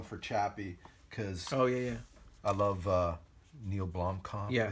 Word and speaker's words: Neil Blomkamp: Chappie, because I love Neil Blomkamp. Yeah. Is that how you say his name? Yeah, that's right.